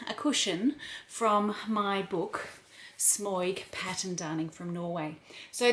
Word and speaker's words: Smøyg: Actually, the O with a slash through it is an sound, so it's Smøyg rather than Smøyg, but you know, I'm Australian, so I don't really pronounce these things properly.